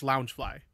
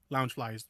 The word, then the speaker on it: Loungefly: And yes, it's loungefly. Loungefly is banned. Loungefly. I did say it right the first time.